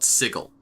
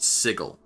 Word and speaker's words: Sigil: considered the center of the D&D multiverse called sigle. It's spelled like the word sigil but it's pronounced sigle.